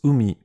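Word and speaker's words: 海: Pour écrire mer, on utilise ce caractère et on le prononce umi, parce que c'est comme ça qu'on dit mer en japonais.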